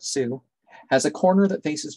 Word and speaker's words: Sioux: obelisk in sioux city i don't think it's pronounced seahawks but sue has a corner that